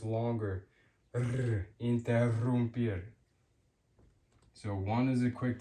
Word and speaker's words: interrumpir: Two R's makes it stronger and rolled, interrumpir, interrumpir, to interrupt, interrumpir.